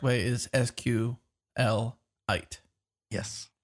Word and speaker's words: SQLite: I say SQLite, like a mineral. Okay. But I also hear a lot of people say SQLite and SQLite.